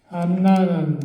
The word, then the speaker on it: 안나: 안나라는 말 그 뜻이 본래 구약에 나오는 사무엘 엄마 한나하고 같은이 한나가 헬라 히브리 발음이고 안나는 헬라 발음이에 그 뜻이 은총 하나님의 은혜라는 그런 뜻입니다.